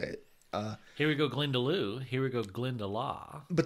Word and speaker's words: Glendalough: Here we go, Glendalough.